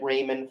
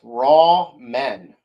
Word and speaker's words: ramen: It's raw men. Scotty, please say it right. There's no W in it.